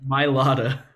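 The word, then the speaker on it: Mailata: the tackle jordan matala how do you say it my lotta my lotta i always forget i forget where the like h like the ha sound is okay my lotta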